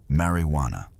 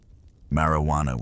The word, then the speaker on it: marijuana: The term marijuana, often pronounced with a soft rolling R, was initially a descriptor for a specific preparation of the plant.